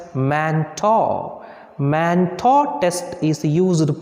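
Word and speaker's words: Mantoux: is manto test here x is there but it is pronounced as manta man thought test is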